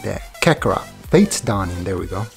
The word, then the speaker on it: Kakarot: Kakarot.